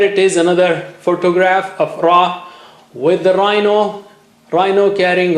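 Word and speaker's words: راء: Touch the tip of the tongue to the upper gums above the roots of the teeth. Almost same spot like lam and noon.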